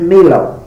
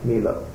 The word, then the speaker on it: Melott: They pronounced Milo. Milo. They left off the T's, but they spelled it with the T's.